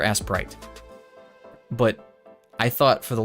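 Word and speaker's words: Aseprite: way i've been saying i feel like i've been saying it wrong for how who goodness knows how long like it's like a s e p r i t it's like aciprite or asprite but i thought for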